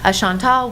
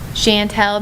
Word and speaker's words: Chantal: Chantal will be the correct pronunciation for the C name. You know, Chantel, maybe that's how other people say in other parts of the world.